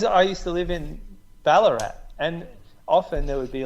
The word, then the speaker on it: Ballarat: Because I used to live in Ballarat, and often there would be like. That rhymes with Ararat.